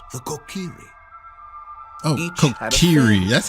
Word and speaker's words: Kokiri: Oh, Kokiri. That's how you pronounce it.